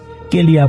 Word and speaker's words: KLIA: মূলত এটাকে অনেকে সংক্ষেপে কেলিয়া বলে, মানে যে যেভাবে উচ্চারণ করতে স্বাচ্ছন্দ্য বোধ করেন সেভাবে উচ্চারণ করেন আর কি।